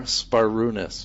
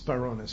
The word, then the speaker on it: Sbarounis: So, I've been pron mispronouncing your name the whole Well, the B is like a P. So it's like spar. S b a r is spar. Sparunis. Sparunis.